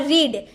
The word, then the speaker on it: read: Spelling same रहते हैं लेकिन दोनों का प्रोनाउंसिएशन अलग तरीके से किया जाता है। फर्स्ट फॉर्म को हम रीड बोलते हैं और सेकेंड फॉर्म और थर्ड फॉर्म को हम रेड बोलते हैं।